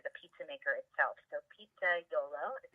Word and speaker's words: Pizzaiolo: the company after the pizza maker itself so pizza dough low is how it's pronounced is the Italian name for pizza maker